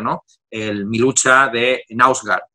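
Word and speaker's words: Knausgård: El Mi lucha de Nausgaard, o Nausgaard, es como se debería pronunciar ese nombre, ¿no?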